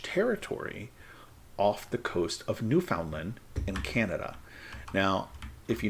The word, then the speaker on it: Newfoundland: me and would say New Foundland New Foundland New Foundland not New Finland New Foundland and so they're very big on pronouncing it exactly how it's spelled which I guess you